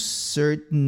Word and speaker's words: certain: And to reduce certain others. Reduce e certain vira reduce certain. Aqui esse T, ele vai no nariz, ó.